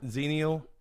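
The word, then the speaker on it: xennial: or whatever it's called xenial I think you don't pronounce the X you know how oh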